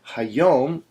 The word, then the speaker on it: hayom: This is another two-syllable word, hayom, with the emphasis on yom.